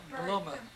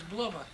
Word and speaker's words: Bluma: Her name was Bluma. Bertha in English. See, but everything was Bluma.